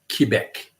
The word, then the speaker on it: Quebec: Ottawa and Quebec and you have to pronounce it Quebec because of quebecers they care about that and I like to